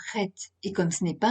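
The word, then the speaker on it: חית: Au lieu du H aspiré de la lettre He, nous devons gratter un peu le palais pour prononcer le Chet.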